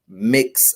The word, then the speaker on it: Mx: would pronounce it as miss elijah instead of mix elijah and the actual pronunciation should be mix elijah if it's going to